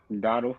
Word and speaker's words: Dowdle: Dowdle? Dottle.